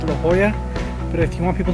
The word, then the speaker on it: La Jolla: of this place as la jala though the locals will be quick to correct you and tell you that it's la hoya but if you want